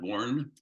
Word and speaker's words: Borgen: spelled Borgen b-o-r-g-e-n um but it's pronounced born one of my sons